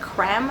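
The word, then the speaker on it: crème: Okay, like celeb the Milani limited edition a more matte lip creams. I feel like it's pronounced creme just because it has like a um accent on the e lip creme, but that doesn't sound so, you know, nice for a lip product.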